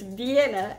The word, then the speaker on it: Vienna: and then I've got these Vienna or do you say by Anna my husband is from Alabama and he says buying a sausages I don't say it like that it's Vienna as in you know Vienna it's one of the